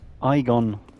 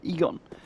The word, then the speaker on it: Egon: we can summon a igon no Egon Egon was how they how he pronounced it in the game Egon Egon of kareim now